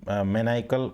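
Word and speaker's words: maniacal: और ये रहेगा मैनाइकल, इसका मैनाइकल प्रोनाउंसिएशन रहेगा, तो याद रखिएगा ये मैनाइकल रहेगा।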